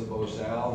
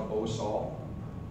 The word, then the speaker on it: bozal: This is a rawhide bozal, and it's a bozal, not a bosal.